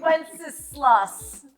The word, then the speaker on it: Wenceslas: And the time it took you to properly pronounce Good King applesauce. Good King Wenceslas.